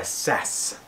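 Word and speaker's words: SAAS: a pillar pod mount this one is by sass or sars because it's spelled s double a s but that's too much like that flu that was going around years ago so we're calling it sass um in my old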